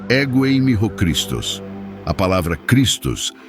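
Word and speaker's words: ἐγώ εἰμι ὁ Χριστός: A expressão Eu sou o Cristo é pronunciada ego eimi ho Christos.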